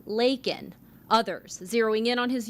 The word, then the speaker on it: Laken: illegal critics pointing out he called her Lincoln instead of Laken others zeroing in on